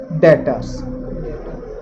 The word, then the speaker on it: debtors: और देनदार को हम इंग्लिश में बोलते हैं डेटर्स। इसमें बी साइलेंट होता है, इसकी स्पेलिंग में DEBTORS।